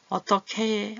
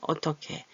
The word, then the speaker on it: 어떻게: 어떻해 어떻해 이렇게 소리가나요 히읗을 다른 자음을 만날 때 소리를 좀 시끄럽게 하는 경향이 있어요 거세의 발음하죠 목구멍 소리가 여기 나와서 어떻게 어떻게 어떻게 오셨어요 뭐 이런